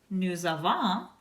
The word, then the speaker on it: nous avons: Nous avons also ends in an S. You do not pronounce the final S on that form either.